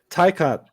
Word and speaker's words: Taycan: Taycan, same vowel pronunciations, different, consonants around.